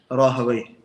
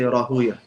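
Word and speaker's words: راهويه: So the muhaddithun pronounce it one way, and the scholars of language pronounce it a different way. What the majority of people use is Rahawayh.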